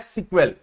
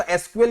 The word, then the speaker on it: SQL: Short form of structure query language है, एंड इट is pronounced as सीक्वेल। बहुत जगह उसको एसक्यूएल या सीक्वेल भी बोलते हैं।